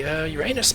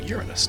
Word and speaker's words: Uranus: Okay, so next would be Uranus, please. Or Uranus, depending on how you prefer to pronounce it.